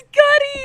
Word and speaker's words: Cudi: Is it cutie? Is it cutie? Did I say it wrong, or do you know the song? Is it Cuddy? It's Cuddy.